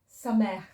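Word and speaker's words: סמך: This is the samech. Okay, the ha in the word samech is pronounced like a very strong ha.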